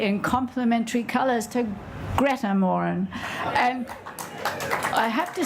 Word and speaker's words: Moran: I'm very excited that it's actually the Morin and not Moran. We've all been saying Moran, and my name is Herman, not Herman, which I'm often called.